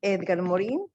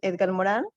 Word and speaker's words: Edgar Morin: sus principales fundadores es edgar morin algunos lo pronuncian édgar moral pero bueno y vamos a